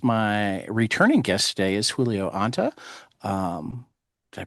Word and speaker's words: Julio Anta: My returning guest today is Julio Ant. Um, did I pronounce that right?